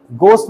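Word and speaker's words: ghost: you believe in गोस्ट गोस्ट में आपका जी silent रहेगा उल्टा हो गया एज साइलेंट रहेगा ओके सो डू यू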